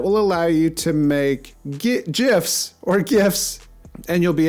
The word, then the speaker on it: GIF: GIF. It's pronounced GIF.